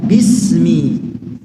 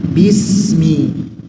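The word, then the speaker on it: بِسْمِ: bi bi bi Bagaimana rapatkan dulu sedikit bibirnya sebelum mengucapkan huruf ba bi jadi enggak bukan sekedar menempel Ya seperti kalau mim memang sekedar menempel Ma mi mu enggak ada penekanan Adapun ba ada sedikit penakanan di situ Bi Bi Bismi seperti itu tapi penekanannya sedikit saja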